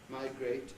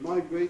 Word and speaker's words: migrate: Words like, now if you use the British versions, frustrate, locate, migrate, and rotate. Lots of others too. The Americans will regularly pronounce those frustrate, locate, migrate, and rotate.